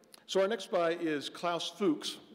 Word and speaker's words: Klaus Fuchs: our next buy is Klaus Fuchs that is the pronunciation I believe we will not be accepting any others tonight uh so Klaus is